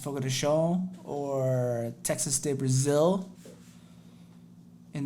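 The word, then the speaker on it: Fogo de Chão: guys have heard of fogota ciao pronounced fogo de sho or texas state brazil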